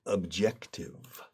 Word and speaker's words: objective: Objective is more difficult to pronounce. Objective. Casi con una che. No una jota.